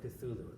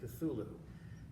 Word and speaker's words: Cthulhu: There's something out there, something horrible that really can't be pronounced by human tongues, but it's spelled Cthulhu.